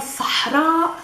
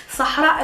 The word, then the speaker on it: Sahara: Sahara is pronounced by a guttural sa, not a sa. We're not saying Saha, Sahara. We're saying sa, sa, and then a ha, sah. Push air out of your mouth.